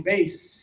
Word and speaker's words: base: This one here, no vibration, base.